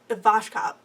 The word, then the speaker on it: Ivashkov: Adrian Ivashkov thinks about Ivashkov. Damn it. Have I been mispronouncing it?